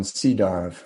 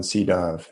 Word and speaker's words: Sydow: have uh okay okay i think it's pronounced uh it's burnt it's spelled von c dao or von sydow s-y-d-o-w have you guys ever